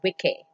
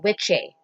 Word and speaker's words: wicce: If it's a female witch, it's Wicce, Wicce, or Witche, pronounced in the Saxon way. Um, so CC was pronounced like ch, you know what I mean?